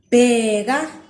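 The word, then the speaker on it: bheka: you can identify them and be able to pronounce them. The first word I have for you is ibanzi. Ibanzi, ban. Bega.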